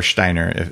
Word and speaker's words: Steiner: And here's the deal that Steiner, a lot of people don't know about, or Steiner, if you pronounce it properly.